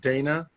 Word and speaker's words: Dana: Is your name pronounced Dana? Is it Dana? It's Dana with the long A.